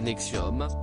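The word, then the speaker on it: NXIVM: pour son implication dans la secte une 80 prononcé nexium tout contraignait des jeunes femmes à l'esclavagé sexuel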